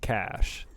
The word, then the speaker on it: cache: Google tells me that cache is pronounced cash, so I don't know.